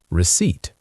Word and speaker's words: receipt: R-E-C-E-I-P-T. The P is silent. Receipt.